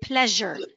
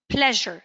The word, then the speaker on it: pleasure: pronounced like Z however in this one it's pronounced like J so we say pleasure not pleasure excuse me so so again pleasure that's a j sound